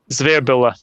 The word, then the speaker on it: Zvirbule: Zvirbule? Is that how you pronounce it? Zvirbule. There we go.